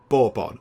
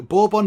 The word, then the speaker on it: Bourbon: They're very, very nice, but I think you pronounce that Bourbon. And I did ask Mrs. Penge. I went and asked, and she sort of confirmed that and said, yeah, I think it's Bourbon.